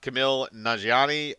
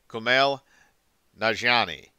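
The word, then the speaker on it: Kumail Nanjiani: more veteran actors uh camille nanjiani um i don't know if i'm pronouncing that correctly i apologize if i am not i am horrible at pronouncing names uh that are not exactly familiar uh with me but i think it is uh pronounced kumail najani i don't know if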